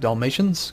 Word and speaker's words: Dalmatia: dalmia as some people some people think I'm supposed to pronounce it like Dalmatians because apparently that's where the dog comes from so other people say that I'm right saying it as Dalmatia 76 days amazing we'll